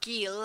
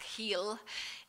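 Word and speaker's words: Geel: the the town of Gil or I think it's pronounced heel in Belgium which um for centuries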